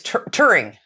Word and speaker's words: Turing: Alan, I'm going to say his name wrong. It's Turing.